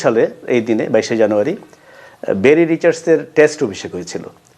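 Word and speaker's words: Barry Richards: কেন বেরি রিচার্ডসের কথা বলছি, বেরি রিচার্ডস হবে উচ্চারণটা।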